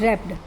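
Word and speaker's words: wrapped: ऑन अ बमबू coat रैप रैप्ड W silent होता है रैप रैप्ड अप हिज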